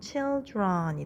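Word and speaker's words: children: 됩니다 나름 규칙이 있죠 어린이 한 명의 복수형인 아이들은 이 차일드의 run이 붙었지만 발음은 chill run이 됩니다 마우스 쥐 한 마리의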